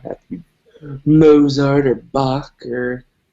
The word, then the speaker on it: Bach: And, you don't, like I said, you don't have to be Mozart or Bach or, It's pronounced batch.